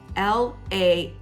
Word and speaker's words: lanai: it so of course we see the word lanai it's l-a-n-a-i-n it's pronounced lanai they'll see it in listings and